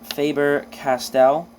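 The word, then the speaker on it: Faber-Castell: Um, Faber Castell, I believe is how you pronounce that.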